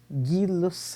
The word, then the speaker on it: Gay-Lussac: homenagem aos químicos franceses jack alexandre césar charlie e louis joseph guilos aqui é assim que a pronúncia desses novos então ó charles ele